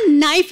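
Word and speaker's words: knife: मैं चाकू को भी कनाइफ बोलता हूँ। कनाइफ नहीं होता, नाइफ होता है। के साइलेंट रहता है।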